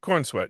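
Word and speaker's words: Corenswet: directed by James Gun and how do you pronounce this brother's last name? David Kornsweet. Cornsweet. Cornsweet. Cornsweet.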